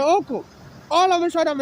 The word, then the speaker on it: Hochul: So now that I'm experiencing xenophobia attack, I named Governor, I'm sorry to mispronounce him, I think her name is pronounced Hochul, Governor Hochul.